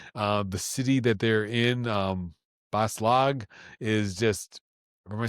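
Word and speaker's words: Bas-Lag: Perdido Street Station, the station, like the train station, the city that they're in, Baslag, is just Am I saying it right?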